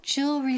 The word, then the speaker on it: jewelry: La primera parte, what jewelry store do you, y el verbo, do you recommend? Aquí, primero, ojo, la pronunciación. Jewelry, jewelry. Dilo conmigo, jewelry. Es la J inglesa, como Jennifer. Repeat, Jennifer, jewelry.